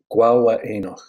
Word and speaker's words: Gwawa'enuxw: say wah wah Anil if you break it up phonetically it can look like this wah wah a nook as in having breakfast better nook and if you had a little bit of flair you can make it sound like you're clearing your throat a very glottal sound wah wah wah put